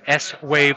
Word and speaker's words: Swave: It’s CES 2024 and I'm in the Swave suite. (pronounced as one word that rhymes with Shave) They're having their little reception right now – beers, chocolates and Holograms so let's talk about Holograms.